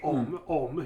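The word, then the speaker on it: Homme: Om is how the French would say it.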